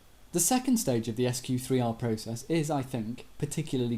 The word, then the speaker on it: SQ3R: be really important to us except it's not pronounced squir it's pronounced sq3r and it's an acronym each letter refers to